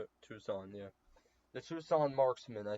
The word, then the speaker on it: Tucson: I usually call it Tuxen, but I I think it's pronounced Tucson. Tucson.